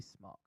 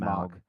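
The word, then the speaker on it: Smoak: It's smoke. It's I'm not saying Smaug. Smog. Smaug. Well, if you think about how the word is spelled, it throws me off every time. Smoke doesn't have an A in it.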